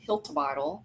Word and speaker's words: Hiltibidal: I'm your host and today I'm super excited to be interviewing Hiltle.